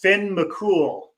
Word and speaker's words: Finn McCool: pronounced Finn McCool.